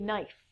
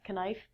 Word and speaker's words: knife: kidney next one is a knife not canife um i remember being